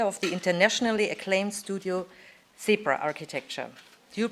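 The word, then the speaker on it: CEBRA: Mikkel Frost is an exceptional architect and founder of the internationally acclaimed studio Zebra Architecture. Do you pronounce it like that, Zebra?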